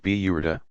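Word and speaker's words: بردة: A very popular part of the festivities is the recitation of a poem by the 13th century Egyptian poet Bizari, the Burda, pronounced Biyurda, mantle.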